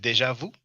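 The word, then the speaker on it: déjà vu: You pronounce it Deja Vu.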